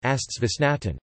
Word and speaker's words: Geisteswissenschaften: Geisteswissenschaften, German pronunciation, Astswissenschaften, sciences of mind, is a set of human